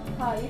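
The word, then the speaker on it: high: For example मैंने यहाँ पे ले लिया हाई, टी एच आई जी एच हाई, या एल ए यू जी एच।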